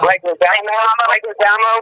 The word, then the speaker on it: Leguizamo: I can't pronounce his name, so if I butcher it, let me know. John Leguizamo. Leguizamo?